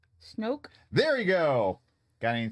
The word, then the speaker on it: Snoke: Rhymes with smoke. Snoke?